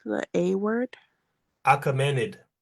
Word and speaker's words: Achaemenid: How do you pronounce the A word? Achaemenid. Achaemenid.